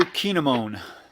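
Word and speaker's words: קינמון: word isn't it uh in the Hebrew kinamon cinnamon we still use the same word we just pronounce it slightly differently peace and respect respect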